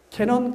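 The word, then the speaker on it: Canon: 그 카메라가 뭔가 하면 캐논 카메라. 캐논인데 그 캐논이 뜻이 뭔가 하면 관음이요. 관음을 일본식 발음은 캐논이 돼요.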